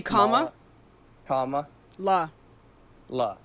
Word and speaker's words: Kamala: Is that how you say Kamala Harris? It's Kamla Harris. I can't say it right. Say comma la la. So Kamla Kamla. Right. There you go.